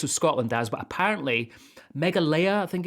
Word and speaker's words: Meghalaya: Now, I thought this was Scotland, Daz, but apparently Meghalaya, I think it's pronounced.